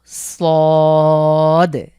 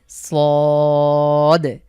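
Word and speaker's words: ص: total ছয়টি হরফ রয়েছে প্রথমে হলো সদ একটু মোটা করে মুখ ভরাট করে সদ এখানে উপরে কোন নুক্তা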